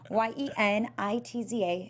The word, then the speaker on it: Yenitza: I'll say it again. You can write it down. Yenitza.